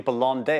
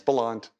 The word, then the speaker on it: Bellande: Someone, I was looking at an old interview and someone was calling you Bellande. I was like, that don't sound right. Yeah, it's Bellande. I'm half Chinese, half English, which didn't give me the easiest childhood when I was younger.